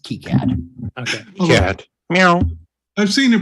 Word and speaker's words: KiCad: that wants to yep and this is in kai-cat i think isn't that what this is called dude this is keycard even though it's spelled kai-cat it's pronounced key cad kicad now i've seen a presenter at the